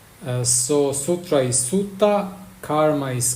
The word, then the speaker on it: sutta: Karma Nana and Dharma in Pali they are pronounced a little bit different because P laes the letter R uh so Sutra is sutta karma is K Nirvana is Nana and Dharma